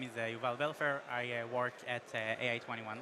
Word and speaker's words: Yuval: For some reason, for English speakers, it's very hard to pronounce it, although it's like starts with the word you. Yeah. Like it's literally Yuval, but yeah, I was saying okay.